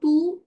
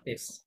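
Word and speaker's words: tes: তেস টেস না তো, S silent রাখতে না, এটা তো এ এই সাউন্ড হয়, তুতে তাই না? চু এ বলি আমরা, তাহলে টু তে, রাইট? টু তুতে তে, নট টেস। টু তে দেপেশে দে পেশে, কারেক্ট।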